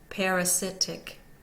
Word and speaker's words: parasitic: two01 o over parasitic so two is secondarily stressed over the par so that's that's our secondary stress the first one the second syllable is unstressed and the third syllable